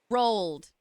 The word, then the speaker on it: Roald: Rolled. Roald Dahl. Like toll.